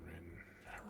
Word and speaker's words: Rin: Rin Rin Rin Rin Rin rhymes with Min ask her and then